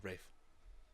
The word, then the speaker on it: Ralph: Oh, it was Ralph. No, Rafe. Rafe. It's pronounced like Rave Fiennes.